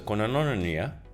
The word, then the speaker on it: koinonia: So, So koinonia yes. means holding Koi. something in common. So it's spelled K-O-I, Yeah. like koi Yeah. fish. Yeah. Then N-O for no. Yeah. Then N-I-A, Okay. nia. Okay.